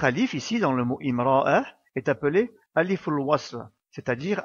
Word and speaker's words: امرأة: Concernant sa prononciation, il y a deux possibilités. Si le mot est en début de phrase ou après une pause dans une phrase, il faut prononcer une voyelle à cet endroit, car en arabe littéraire, on ne peut pas commencer une phrase ou une portion de phrase après une pause sans commencer par une voyelle ou une lettre associée à une voyelle.